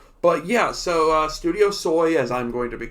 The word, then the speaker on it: SOI: actually pronounce that s-i-s-o-i not not like the soy sauce it's SOI soy we might be soy might